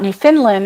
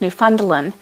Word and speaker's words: Newfoundland: that Alice Edinburgh yeah new funds Lynn okay Newfoundland so it's not New Finland it's Newfoundland see there you go ah Naomi yes ding